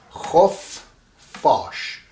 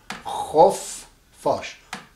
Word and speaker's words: خفاش: I've written khof and then I put a line in between and then I said F. So that means khof fash. Khof fash. F is pronounced twice. Khof fash.